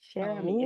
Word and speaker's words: Cher Ami: Okay, Sheri is how you say it. Sherami, it's French.